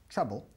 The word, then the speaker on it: trouble: Okay, trouble se escribe trouble, pero se pronuncia trouble. Trouble. Dos cosas aquí que hacéis mal. Primero, el sonido de la vocal. Decimos tra, así, tirando para abajo la mandíbula.